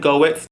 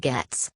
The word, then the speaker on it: Goetz: is going to be Malin and goeth it's actually pronounced melon and gets I'm just uncultured dark